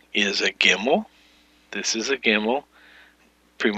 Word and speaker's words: gimel: that basically word is the letter gimel we pronunciate this with a hard G as in God and the transliteration is